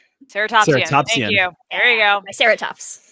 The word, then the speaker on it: Ceratopsian: Help me pronounce this. Ceratopsian? Ceratopsian.